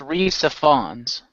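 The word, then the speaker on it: Rhys Ifans: The new ones include Reyes Ifans as the Mad Hatter's father, and Sacha Baron Cohen as Time itself. I believe it's And pronounced Reese Fawns.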